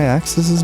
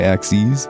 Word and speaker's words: axes: Maybe this means we're finding where our X and Y axises meet axes. X and Y axes. I think that's the proper way to say it.